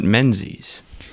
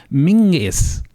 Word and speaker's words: Menzies: and who was Robert mens's born in 1894 in Victoria Robert menes was proud of his Scottish Heritage and preferred his surname to be pronounced in the traditional Scottish manner as mingis which gave rise to